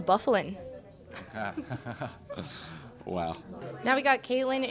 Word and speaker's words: Byfuglien: from Minnesota so American Dustin by foolin yeah you think but it's actually Dustin Byfuglien Wow now we got